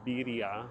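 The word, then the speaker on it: birria: the sauce the stew you never had beia beia I'm trying to say it properly which sounds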